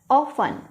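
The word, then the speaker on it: often: इस टाइप से कर देंगे ट्रांसक्राइब, ऑफन। यहाँ पे क्या है, टी साइलेंट है।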